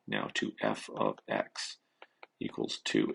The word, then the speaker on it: f(x): with an x in brackets and how it's pronounced is f of x and what it means is y is equal